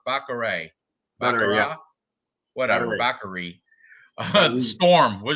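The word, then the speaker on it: Batgerel: The L's not pronounced. Baccarat.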